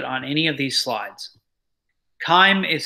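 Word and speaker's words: chyme: forgot to put on any of these slides time is spelled CH y em e so the bolus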